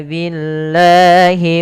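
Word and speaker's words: بالله: Mad thii kemudian pfal Billahi lafal Allah bila didahului dengan huruf berharakat kasrah maka dibaca dengan tipis bukan Billah tapi Billahi Man amamana Billahi Wal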